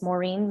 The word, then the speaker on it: Maureen: your name for the record my name is Maureen spelled thank you spell ladder yes please okay Maureen is spelled m-a-u-r-e-e-n and is spelled right